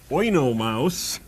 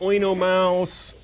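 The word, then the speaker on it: Oenomaus: Mouse now let's put oo Mouse over here actually it's O that um over the U does not mean that he is a heavy metal band it means that they're to be pronounced separately his name in ancient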